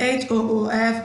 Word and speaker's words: hoof: But for the sake of this particular lesson, we'll be pronouncing the H-O-O-F as hoof, which is American pronunciation of it, American way of pronouncing the word.